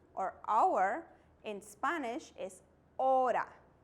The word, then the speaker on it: hora: amazing language here's one the letter h is silent in spanish this means that you do not pronounce it ever so the correct pronunciation for time or hour in spanish is ora ora let's move on to